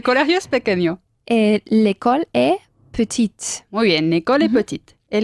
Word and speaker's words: petite: Añadir una E, o sea, petite, Ajá. y pronunciamos la T final.